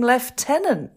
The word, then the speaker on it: Lieutenant: episode and that was when he went to London oh in that case they called him Lieutenant that's right and I never understood when I watched Colombo why are they calling him left tenant but how can lieutenant